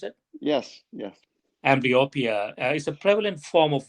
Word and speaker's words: amblyopia: uh amblyopia is that the right way to pronounce it yes yes amblyopia is a prevalent form of visual impairment uh